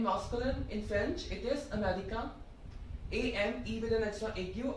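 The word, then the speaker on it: Américain: So in masculine, in French, it is Americain.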